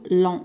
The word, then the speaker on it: longs: هاد جي والاس ديال لون ما كنطقوهمش، كنقولوا لون.